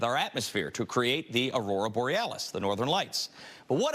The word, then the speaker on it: Aurora Borealis: Okay, first off, you're pronouncing it wrong. It's Aurora Borealis.